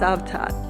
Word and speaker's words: Cavtat: stream before boarding the bus and heading towards savat I know it looks like Kat but it is pronounced savat savat is a Resort Village right on the